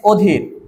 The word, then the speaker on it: অধীর: তুলনা নেই আবার এখানে অধির এটার উত্তর হবে কি নযোগ ধীর তারানে অস্থির প্রত্যেকটারই কিন্তু উচ্চারণ অতুল আর এটার উচ্চারণ কিন্তু অধীর মানে বিবৃত থাকবে।